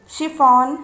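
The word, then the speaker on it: chiffon: यहाँ पर भी देखिए सी एच है लेकिन इसका उच्चारण हो रहा है श.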